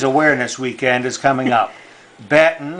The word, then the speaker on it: Batten: weekend is coming up batten is spelled ba tten like batten down the hatches more information about batten